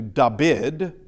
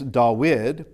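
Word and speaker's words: Δαυίδ: And so this this is they could either do in my mind they could do dabbid using a beta in there but uh with an oopsilon it's dawid. Now this is uh instead of a j this is uh easeus.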